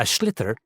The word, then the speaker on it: sliotar: This is what it looks like, and basically you have to get this ball, called a sliotar, that's S-L-I-O-T-A-R, so it's not spelt the way it's pronounced.